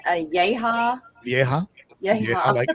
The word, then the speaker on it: vieja: Vieja. Vieja. Like an old lady in Spanish, it's pronounced vieja.